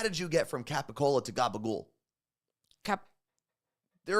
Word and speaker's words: capicola: what is Gaba goul I know I didn't spell it right there you go Marine uh it's capicola c a p p i c o l